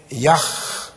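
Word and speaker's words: YHWH: priest was the name Yak the y h that W is pronounced like a VH I pointed out to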